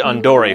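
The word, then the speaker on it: Andore: Jr not quite right his name is actually Andor from the Japanese pronunciation of the word Andre as an Andre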